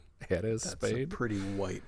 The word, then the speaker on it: Jerez: Jerez, probably not Jerez. Jerez, Spain. That's a pretty white pronunciation, I think. Yeah, it's from Jerez. I'm sure that's a soft J.